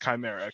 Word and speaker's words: chimera: it's about i think it's supposed to be pronounced chimera because i play a lot of video games but who knows maybe like in the knife world it's pronounced differently but i think it's pronounced chimera kind of like where